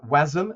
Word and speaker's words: WASM: of um web assembly wasm as it's sometimes called that's what how you pronounce that acronym um uh has been